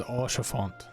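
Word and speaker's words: Haurchefant: I love how it says Orchefort. That's awesome. That's how it's supposed to be pronounced.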